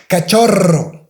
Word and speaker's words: cachorro: And if you have the double R, of course, all the time you have to pronounce the strong R. R. Cachorro, cachorro.